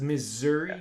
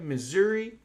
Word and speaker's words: Missouri: one missouri yeah they're pretty close you're gonna pronounce this like zs missouri missouri very okay yeah yeah of course double c